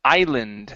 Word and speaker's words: island: we have the word Island the s in this word is silent okay the island is